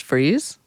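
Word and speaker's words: Friess: Is it pronounced Freeze?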